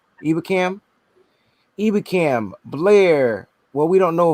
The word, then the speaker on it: Ebukam: Ebukam.